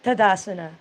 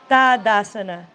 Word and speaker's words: Tadasana: number one da-da-da-da-da sana it's not Tadasana dad asana so if you let's learn how to say it the way let's honor the language yeah okay dad asana Mountain Pose good word